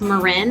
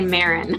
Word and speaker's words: Marin: with me oh and my last name is pronounced Marin that most people say Marin okay yeah only bay